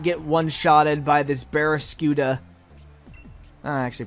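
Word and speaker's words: Barraskewda: I need you to not get one-shotted by this Berascuda. Oh, I actually pronounced it right.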